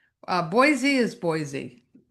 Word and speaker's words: Boise: Uh Boise is Boise. Well, yeah. b o i s e I think you would pronounce it Boise, and it is Boise.